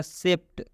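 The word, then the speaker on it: shaped: अब बहुत से लोग इसको डी भी पढ़ते हैं, बहुत से लोग इसको ट भी पढ़ते हैं, तो इसका उच्चारण होगा सेप्ट।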